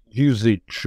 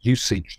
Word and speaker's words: usage: So most people say usage now. He would definitely have said usage.